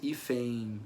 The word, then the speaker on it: hífen: é que eu considero a sílaba final que eu tenho um som de efe um som de e nasal e uma servir vogal e como se fosse hífen aparecendo aí no final certo tô também conta